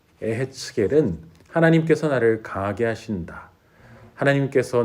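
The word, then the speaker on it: יחזקאל: 이었음을 우리에게 증언하고 있습니다 에스겔의 히브리어 발음은 애 했 게 립니다 에 했 겔은 하나님께서 나를 강하게 하신다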